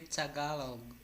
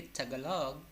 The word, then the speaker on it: Tagalog: Danny, I told you it should be Tagalog, okay? Tagalog or Filipino. It should not be Tagalog.